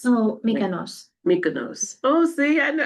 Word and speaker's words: Mykonos: My Cocos? Oh, Mykonos.